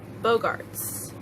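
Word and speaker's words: Boggarts: Bogarts, I believe is how it's pronounced.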